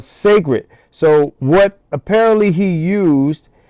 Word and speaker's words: Cecred: pronounce it, but it's spelled c e c r e d. And, I think it's pronounced Cecred. I'm just guessing, right? You know, black people like to be different and So, I think it's called Sacred.